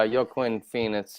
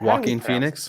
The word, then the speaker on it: Joaquin Phoenix: hey I mean uh yo Quinn Phoenix or yolk how do you pronounce it Joaquin Phoenix yep what his I believe what yeah you're right everyone's been saying it wrong for the past 30 years you know what the